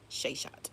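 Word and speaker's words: Seshat: Sheshat.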